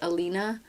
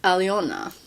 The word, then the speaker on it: Alena: What I've learned so far, I know Привет, меня зовут Alena, and on that, rather than my name being pronounced Alina, the proper Russian way to pronounce it is Alena.